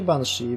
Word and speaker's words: Banshee: No, czyta się Banshee.